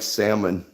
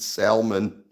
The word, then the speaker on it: salmon: secret I don't like salmon I just pronounced it salmon I almost pronounced it salmon I I tucked an L in there I I re realized